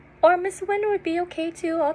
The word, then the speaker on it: Huynh: give you a hint it is the opposite of lose so the opposite of lose is win right so yeah that's